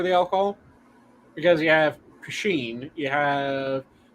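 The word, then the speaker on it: poitín: Then you have Pasheen where it is POTEEN, and then Pasheen where it is POTHEEN. All of them are valid spellings of Pasheen.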